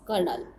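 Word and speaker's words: colonel: Spelling कर्नल की कॉलोनियल लिखी जाती है एंड इट is pronounced कर्नल.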